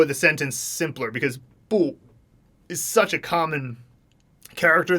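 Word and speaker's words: 不: make a movie for boo she said sometimes boo is pronounced with the second tone are there rules on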